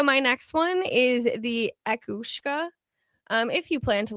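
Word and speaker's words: each-uisge: Um but it's pronounced akushka.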